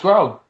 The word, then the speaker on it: Gros: No, it's Gros. The S is silent.